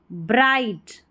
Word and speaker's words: bright: When evening arrived, the sky became bright. क्या है bright? GH इसमें पढ़ा नहीं जा रहा है, ठीक है. Bright.